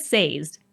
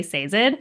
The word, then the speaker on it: Sazed: didn't know you and you said sazed I would know exactly who you meant even though I personally say SED and I would not